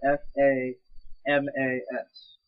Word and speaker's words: FAMAS: yeah that's another thing guys fun fact it's pronounced Famas not fam and the it's the Galil not